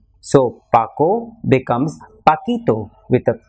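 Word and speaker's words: Paquito: that that is why Spanish requires a spelling change to maintain the sound so Paco becomes pakito with a p a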